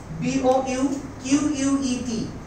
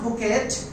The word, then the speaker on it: bouquet: না, CATTERPILLARS, বুকে of flowers, বুকে BOUQUET, এটার উচ্চারণ আমরা অনেকেই বলে বুকেট, it's not buket, its actual pronunciation is bouquet.